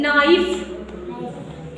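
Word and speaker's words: knife: है के साइलेंट है एन के पहले के आया है के क्या है साइलेंट है नाइफ इतना रसा रसा मु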